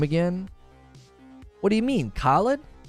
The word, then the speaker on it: Khalid: Isn't that how you pronounce it? Khalid? Am I emphasizing the wrong part of the word? I thought that's how Khalid was pronounced. Correct? Yeah, I'm saying it right.